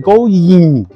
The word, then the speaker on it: going: 那个字很棒，easy 再加一个 going。Going 不要念成 going，因为你念 go 的时候